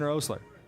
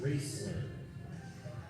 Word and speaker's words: Raisler: And that's going to bring up the 9-hitter today for Harrisburg, Ian Rosler. Right fielder number 17, Jackson Raisler. Raisler, excuse me. Had his name wrong.